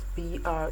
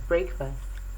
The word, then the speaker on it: breakfast: word like breakfast spelled b-r-e-a-k-f-a-s-t is popularly pronounced as breakfast but it's correctly pronounced as breakfast breakfast the word break doesn't change but when you add f-a-s-t to it it becomes breakfast and then the next